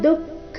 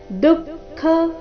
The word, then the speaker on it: ದುಃಖ: ಬರಬೇಕು ಸೌದ್ಯಾ ದುಃಖ ಸಂಯೋಗ ದುಃಖ ಇಲ್ಲಿ ದುಃಖ ಬೇಡ ದುಃಖ ದು ಮೊದಲು ಅಲ್ಪಪ್ರಾಣ ನಂತರ ಖ ಮಹಾಪ್ರಾಣ ದುಃಖ ಸಂಯೋಗ ವಿಯೋಗೈ ಅನುಸ್ವರದ